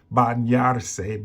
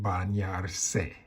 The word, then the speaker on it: bañarse: Bañarse, bañarse. So to help you understand how to say it, this is English, bañarse.